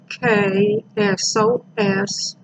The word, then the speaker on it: Hyksos: Again, Hyksos, pronounced Hyksos.